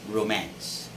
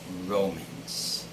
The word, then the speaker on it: romance: word is this word it's romance romance so this word has the stress on the second syllable mass and never romance but romance okay just like if i say i watched a comedy romance flick yesterday okay it's romance not romans remember the next word